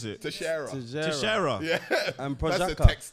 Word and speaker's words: Teixeira: I don't know how to pronounce these names. Texteria and Proskovic. Man, Texteria. What's how do you pronounce it? Teixeira.